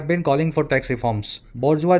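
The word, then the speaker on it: bourgeois: आर बोर जी ई आई एस अजीब सी spelling है French word है फ्रांसीसी क्रांति से निकला था शायद बजवा बोलते हैं मिडिल क्लास को वर्किंग क्लास को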